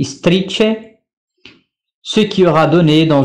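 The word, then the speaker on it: istrice: syllabes, le mot et la chose strice, prononcé strice, ce qui aura donné dans une correspondance française le hérisson.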